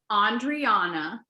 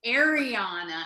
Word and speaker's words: Andriana: Greek-inspired name, but also never pronounced properly, and it's Andriana. But when you put it on a name tag, it's like, hey, Anna, hey, Ariana, hey.